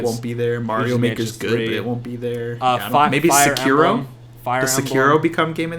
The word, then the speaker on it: Sekiro: How do you pronounce it? Sicario? That's a movie. Sekiro.